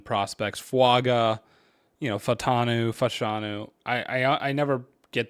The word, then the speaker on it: Fashanu: good offensive lineman prospects faga you know fanu fashanu I I I never get those pronunciations right it's fashanu and falanu um but I always like mix